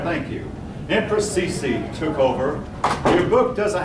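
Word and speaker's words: Cixi: Her name is spelled C-I-X-I. I'm looking for the pronunciation of her name. I believe that's... How's that? Somebody pronounced it. Sisi. All right, thank you. Empress Sisi took over.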